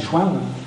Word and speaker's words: Chevennes: Quand on le prononce maintenant, on dit Chouin.